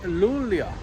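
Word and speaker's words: Luleå: thing hey guys so we are in Lula or lul lul lul the a is pronounced as an O uh right behind me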